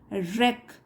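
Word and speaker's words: wreck: पर these pressures can रेक इसमें जो डब्लू है वो साइलेंट है कैन रेक हैव तो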